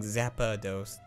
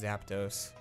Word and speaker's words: Zapdos: get something okay Zapdos we keep saying Zappa dosed just Zapdos just let me pronounce